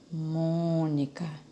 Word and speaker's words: Mônica: Mônica. Tia, a sílaba pronunciada com mais intensidade é o mon. Então, é a sílaba antepenúltima.